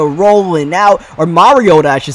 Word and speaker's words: Mariota: not going to happen third down and 20 Mariota rolling out or Mariota I should say that's the correct way to pronounce his name either way that's not the